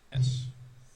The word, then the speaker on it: Mephits: It's spelled methods. Mephits.